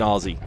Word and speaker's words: Aussie: He's really an Aussie with a Z, even though it's spelled with two S's. They say Z.